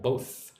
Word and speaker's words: both: Murad says, "How to pronounce th for example, both of them." So both is the hard one. Them is the soft one. With both you need to lick your top teeth.